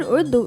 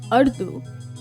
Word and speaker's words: Urdu: Because the word udu isn't pronounced ardu, but it also wasn't ardu, it's udu. And yeah, you're probably thinking, "Kay, this is so confusing."